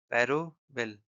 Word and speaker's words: parable: तो जो पैरावेल है पैरावेल इसका जो प्रोनाउंसिएशन है पैरावेल। पैरोबेल। पैरोबुल राइट यह इसका एक्चुअल प्रोनाउंसिएशन होता है।